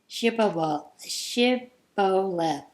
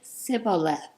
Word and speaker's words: Shibboleth: And they would say Shibboleth. But he would always say Sibboleth. He couldn't say it right.